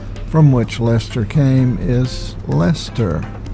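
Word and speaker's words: Leicester: which Lester came is Lester like it was spelled l e s t e r but it's not it's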